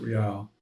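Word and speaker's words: rial: I think that's how you pronounce it real.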